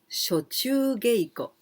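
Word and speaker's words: 暑中稽古: Well, this sho we can pronounce atsu from atsui. Atsui. Atsui. What? How? Hot. That is atsui. Atsui. Well, here we pronounce sho. And the second kanji is naka, inside. But we can also pronounce chu.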